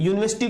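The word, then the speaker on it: university: example लिया की यूनिवर्सिटी अब देखिए जब हम इसको एक्सप्लेन करेंगे यूनिवर्सिटी को बोलेंगे तो यहां पर यू आर है यू यूनिवर्सिटी तो मतलब है यूनिवर्सिटी जो है यहां पर साउंड जो है वो कॉन्सोनेंट का ए रहा है किसका ए रहा है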